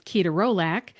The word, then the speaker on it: ketorolac: Two really good examples are ketorolac, which in the dictionary is ketorolac, and citalopram, which in the dictionary is citalopram.